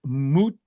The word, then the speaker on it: Mujtaba: So that's why I went with Mujtaba, since I am the official pronunciator of the show.